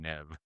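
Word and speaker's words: Neve: Well, Nev Campbell pronounces her own name Nev.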